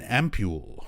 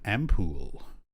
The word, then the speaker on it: ampoule: in our pockets and an ampoule or an ampoule depending on where you live apparently it's okay to pronounce it either way it's a regional thing ampule this is the